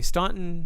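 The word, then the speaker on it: Staunton: in there but anyway Stanton Virginia s t a u n t o n it doesn't it's not spelled like it sounds but do check it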